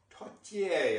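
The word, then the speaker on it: tourtière: And I'm going to try to make us a pork pie or tortier, I believe it's pronounced, or thereabout.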